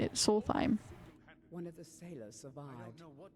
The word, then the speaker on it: Solstheim: Solstheim.